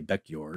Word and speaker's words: Bekjord: Well, he was of Norwegian descent. Yes. Actually, his family's from Norway. So I would say Bekjord.